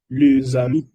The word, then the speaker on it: les amis: Se pronuncia les amis. Les amis significa los amigos. ¿Por qué lo pronuncia les amis? Porque en francés, cuando un sustantivo se termina con un E, con S, ¿verdad? Y el sustantivo que sigue empieza con un H o con un vocal, la S se une y se pronuncia Z. Por eso lo pronunciamos les amis.